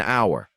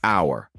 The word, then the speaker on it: hour: The answer is an hour. Because the H is silent, we say hour.